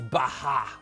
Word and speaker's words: Baja: Il paraît que ça se prononce Baja. On me l'a bien reproché. Pas Baja, Baja.